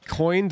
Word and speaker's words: coin: join or joy in do you say two syllables or one syllable if you learn there's like a specific part of the east coast in the United States that says joy in and coyan it is one syllable to be clear one is correct like it's not even an argument but I noticed